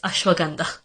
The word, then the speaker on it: ashwagandha: like ashwagandha and Himalayas it's Himalayas and it's ashwagandha I feel like every time I tell people